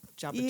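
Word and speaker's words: Jabituya: that's not how he pronounces it. J-A-B-I-T-U-Y-A. So he pronounces it different, but that's how it's spelled. Jabatuya.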